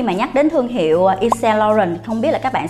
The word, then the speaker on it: Yves Saint Laurent: Và tên thương hiệu nếu như mà đọc đúng theo tiếng Pháp á, là đọc là Yves Saint Laurent.